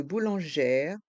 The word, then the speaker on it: boulangère: minérale prononçons la boulangère la Bou lanère le E accent grave se prononce e ger et le R de boulangère reste en suspens la Bou boulangère la